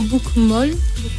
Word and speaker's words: bokmål: livre qu'on prononce apparemment bokmål. Bokmål, je sais pas, Laurent. Mais il faut voir comment il est écrit. Ça s'écrit B-O-K-M-A avec un petit accent et puis L. Alors ça se dit bokmål.